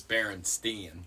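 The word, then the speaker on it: Berenstain: Baron stain sure I I hear that pronounced as Baron Steen so Baron stain actually comes from uh in English it would be pronounced Jan Baron stain um if you just read English letters but uh if you read it in uh German it maybe German it would be like Yan barenstein um or barenstein yeah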